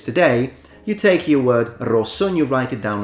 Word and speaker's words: rosso: So in Italian, red is pronounced rosso, rosso.